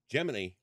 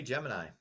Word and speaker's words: Gemini: from the boys the people who pay attention geminy on the on the Gemini flights gemin FL